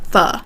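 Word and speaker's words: pho: So, a lot of Americans don't know that fu is pronounced fu. They see p h o and they say fo.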